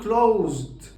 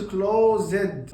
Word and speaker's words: closed: ما بقولش called غلط، ما بنطقش الاي اصلا. بقول closed، ما بقولش closed غلط، بقول loved، ما بقولش loved.